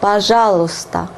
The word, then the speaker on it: пожалуйста: Пожалуйста. Пожалуйста. And pay attention to the pronunciation. It differs a lot from the way it is written.